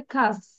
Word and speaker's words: cast: এটা উচ্চারণটা হবে খাস্ট, CAST, খাস্ট খাস্ট খাস্ট Cast.